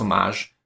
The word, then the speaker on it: homage: the pagani design 1701 which is a homage pronounced homage to one of the